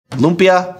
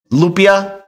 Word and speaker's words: Lupia: And let me get this first name correct. Lumpia Logic. Lumpia Logic. Lupia Logic. Phase demanded that I say it correctly.